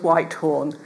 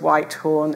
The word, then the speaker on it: Whythorne: That's Thomas Whitehorn. And it's spelt different ways, but usually it's spelt W-H-Y-T-H-O-R-N-E, Thomas Whitehorn.